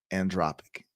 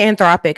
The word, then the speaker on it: Anthropic: Ai and started uh andropc is that am I saying it right androp I say anthropic I yeah anthropic oh that's about right anthropic and um and